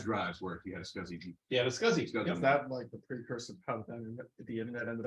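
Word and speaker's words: SCSI: beyond my case uh scuzzy oh sure wasn't he a bear no close stop what now there was an attempt to have it pronounced sexy but that didn't take it I can't imagine why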